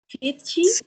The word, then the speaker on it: phishing: Phishing, se pronuncia así, phishing.